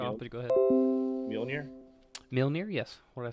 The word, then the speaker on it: Mjolnir: Milnir, yes. What did I say? That's pronounced right?